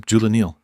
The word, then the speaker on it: Julenil: A stressed first syllable, a soft middle, and a clear final syllable.